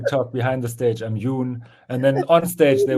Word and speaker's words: Jon: actual name is well my first name would be pronounced Yun privately that's a Norwegian because they spell the O is like a u and then my my